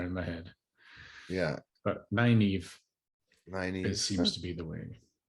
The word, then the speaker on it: Nynaeve: Nynaeve is not how I pronounced it, and I think that's how they pronounced it. Yeah. I always said, like, I don't know what I called her in my head, like Nineveh almost, or something like that.